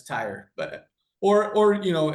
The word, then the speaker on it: Theurer: Looks like but it's tire.